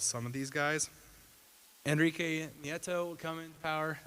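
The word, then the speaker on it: Nieto: of these guys Enrique NATO will come in power I think it's pronounced Enrique Neo he does not like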